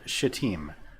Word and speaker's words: Shittim: And they're in that area there called Shittim. And that is how you pronounce that.